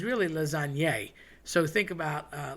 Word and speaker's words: lasagne: So you want to eat the lasagne, really, but everybody says lasagna. And sometimes my mom has a bad habit of just cutting off the N, saying lasagne. Again, that GN is that sort of nyuk, nyuk, nyuk sound that's created by a tilde in Spanish and the GN in Italian.